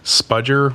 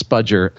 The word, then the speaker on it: spudger: a couple of them are apparently um I mispronounced the word spudger which is a pry like a plastic pry